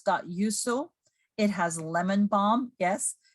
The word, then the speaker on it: yuzu: It's very popular in Asia, which is yuzu. It's Y-U-Z-U. It's pronounced yuzu.